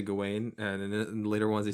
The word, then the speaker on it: Gawain: darwin and then um i think the uh the brits say uh gowin it's it's depends on the region but um yeah you know and they get the other characters here in america we say gowin yeah i mean like